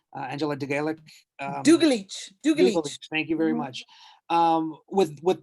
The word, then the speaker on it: Dugalic: And if you could educate me on the proper pronunciation of her name, Angela Dugalic. Dugalic.